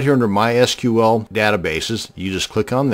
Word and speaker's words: MySQL: to create a mySQL database and yes it's pronounce MySQL not MySQL so the next time you're at a dinner